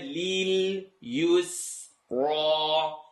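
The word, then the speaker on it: لليسرى: Wanu yassiruka lil yusra. Lil yusra. Simple word, but it has to be enunciated. Lam kasra li. Commit to the lam sound.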